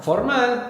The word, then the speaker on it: formal: So formal the accent's going to move to the end. So formal is foral formal.